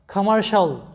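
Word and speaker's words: commercial: তো এখানে লক্ষ্য করো MER সমান উচ্চারণটা হবে মার, আর এখানে দেখো শাল, CIA, তোমরা জানো যে CI প্লাস অন্য কোনো ভাওয়েল থাকলে সি এর উচ্চারণ হয় স, বাংলায় তালব্য স এর মতো, যেটা পূর্ববর্তী ক্লাসে তোমাদের শেখানো হয়েছিল সি এর উচ্চারণে।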